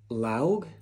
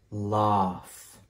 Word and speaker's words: laugh: How do you say this word? Laug? No, laugh.